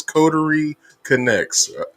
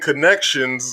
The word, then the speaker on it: Coterie Connects: was like, "It's Coterie Connects," but Mhm. but I was saying connections, and I had it wrong both times.